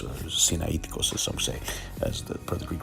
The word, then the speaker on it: Sinaiticus: of the septuagint rather this is from codex cyanaticus or sinaiticus as the greek pronunciation and we found the name absalom transliterated